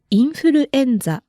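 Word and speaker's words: インフルエンザ: say influenza in Japanese it's very similar in Japanese you say infuruenza okay now on to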